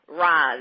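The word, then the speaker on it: Ralz: to it, and the rapper, how do you pronounce his name, Robert? Reives, R-A-L-Z. Reives.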